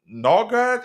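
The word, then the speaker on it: Nørgaard: Christian Norgard, is how you pronounce that, of Brentford, 173.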